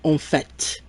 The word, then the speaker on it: en fait: we say in fact, we're going to say en fait.